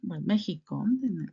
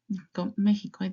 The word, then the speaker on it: México: but I know that Mexico In Spanish is pronounced Mexican. Mexico. Yeah, that's correct. Why? Because Mexico, México, México from comes from the language from Mexico from the original tribos in Mexico.